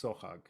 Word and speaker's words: Sohag: sohag which means songbird but sarafiyan would drop the k though the word is still pronounced sohag he simply transliterated it to sohog sadafyan was an armenian